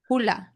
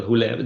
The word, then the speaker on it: Hulea: Hulea Hulea Hulea so there is an E there as well. Hulea it doesn't matter.